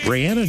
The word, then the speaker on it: Rihanna: But she was like, "Actually, it is Rihanna."